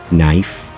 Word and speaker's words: knife: n such as no knife and not have you ever wondered why we have these KN words in English where the K is silent because these are old